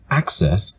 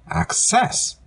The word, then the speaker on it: access: could also be a verb but they're both pronounced differently the noun form access has to stress and the first syllable the verb form access has distress and the second syllable the now